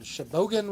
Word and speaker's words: Sheboygan: He's in Sheboygan, Wisconsin. Did I say that Nice. right? Sheboygan? Sheboygan? Sheboygan? Yeah. Sheboygan. That's how you say it.